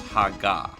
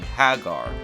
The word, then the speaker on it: Haggar: of the last name, it causes a long A sound, proving at the very least that the last name is pronounced Haga. Now I know there will be skeptics that will say, but we don't live in Japan. That's true, but if the last few games have English voiceovers saying Haggar, I feel like that's evidence enough that we should be pronouncing it that way.